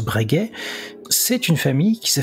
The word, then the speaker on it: Breguet: bregis ça s'écrit breget d'ailleurs mais ça se prononce bregay c'est une famille qui s'est fait un nom